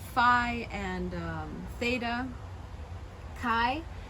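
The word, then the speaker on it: χι: like phi and theta chi is aspirated in some reconstruction reconstructed form so it sounds like the sea and cat cup and then in lucian and modern greek it's more like like helium i guess um so again i go with the helium um but you can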